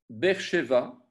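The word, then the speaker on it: באר שבע: Beersheva, BR, donc BR, donc vous avez un Sheva très court, B, et puis vous avez un E, BR, BR.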